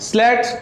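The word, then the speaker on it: slats: और इसके ठीक अपोजिट आगे की तरफ लगा होता है स्लैट्स। बहुत से लोग इसको लैट्स भी बोलते हैं, एस को साइलेंट कर देते हैं।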